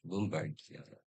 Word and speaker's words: Bombardier: Oh, it's Bombardier. Whatever is pronounced here in family.